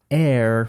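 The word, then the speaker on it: heir: Tu chyba nie ma nic szokującego, ale myślę, że dość przydatne, gdybyście się zastanawiali, czy faktycznie ta wymowa jest taka sama. Także jest. I kolejny trójkąt. Air, czyli powietrze.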